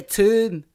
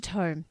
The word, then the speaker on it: tome: I say tomb. Tomb. No, it's a tome. It is a tome.